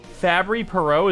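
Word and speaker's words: Fabry-Perot: variant dang you are into that my dude fabry perot is really how you pronounce it i'm proud of myself i'm proud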